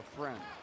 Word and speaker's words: Ffriend: It's F-F-R-I-E-N-D. Just like it sounds, for Ffriend. Except it's pronounced Ffriend.